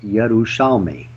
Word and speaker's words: Yerushalmi: The name is pronounced as it is spelled, Yerushalmi. Yerushalmi. Okay, good. Pronounce it Italian. You'll Yeah, feel in Italian. Yerushalmi. Yes. Yerushalmi. Yerushalmi. The accent on the end.